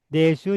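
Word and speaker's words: です: Desu dibaca des ya.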